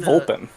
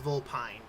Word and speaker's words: Vulpine: no, That was in Vulpin. That was technically it's pronounced Vulpine. There's supposed to be an e at the end of that.